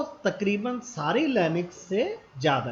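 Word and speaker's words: SUSE: सूजो क्या है कि इसे स्पेल तो इसके ही है, पर इसे प्रोनाउंस किया जाता है सूजो।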